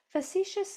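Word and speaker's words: facetious: Ti says sh when it's toward the end of a multi-cllable word and there's a vowel after it. O U S says us. Facious. Facicitious. Facitious means kind of flippant.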